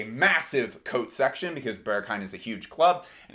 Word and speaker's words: Berghain: It's actually pronounced Berghain.